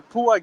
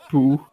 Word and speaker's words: PUA: am walking here, and the Pua game Yeah, I'm is walking here. totally ruined. Eh? Yeah, walking here. Yeah. Hey guys. It's pronounced P-U-A, not poo.